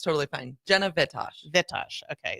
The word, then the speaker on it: Vitosh: Jenna Vitosh. Vitosh. Okay, so the accent on the front part.